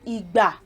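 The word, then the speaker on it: ìgbà: accents in syllables like igba. So e sounds like do. Remember, I showed you the accent. The do comes from the left to the middle, like from the left. So igba, do.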